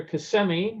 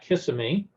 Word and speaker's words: Kissimmee: our first sign for kissimmee which i imagine lots of people were learning to pronounce and that it was not kissimmee and 192 we're gonna